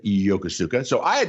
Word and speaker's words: Yokosuka: japan uh and uh yakuza or as the japanese pronounced it yokosuka so i had not